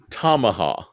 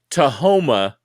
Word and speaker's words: Tamaha: it right now, but when you say Tahoma, you're flipping the A to the M. It's TAM and a hip my dough. So it's Tamaha. Like a tomahawk, but Tamaha.